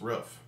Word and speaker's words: roof: And also the fact, another word with OO that I pronounce differently than she does, is the thing on top of a house, which I pronounce roof.